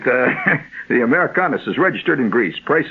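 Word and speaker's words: Amerikanis: That's with a K, so that's why it's pronounced that way. for seven days. Americas. Americanis. That's it. Americanis.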